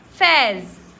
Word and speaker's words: phase: PHASE, इसको हम हैस नहीं बोलते, तो इसको हम क्या बोलते हैं, फैज, फोबिया, फिलोसॉफी। चलो, आपको समझ में आ गया। फ कहीं पे साइलेंट होता नहीं है, तो नॉर्मली फ का उच्चारण एफ का उच्चारण फ ही होता है।